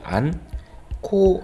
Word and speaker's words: 않고: 기억에서 히어로 으로 바뀝니다 그렇다면 한 코 라고 다름 하는게 맞겠죠 또 마찬가지로 온 쌓